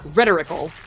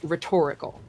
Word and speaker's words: rhetorical: it's an adjective or so it's not rhetoric, it's rhetoric. But it's not rhetorical, it's rhetorical. Because you tend to put the emphasis on the second syllable.